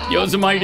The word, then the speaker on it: Yosemite: Oh, the what is it, Yosemite? The Is that how you pronounce it? Yosemite? Donald Trump, is that you? Yosemite? Is this Yosemite? Is this Isn't Donald that a Trump we're national talking to? Yosemite is right, though.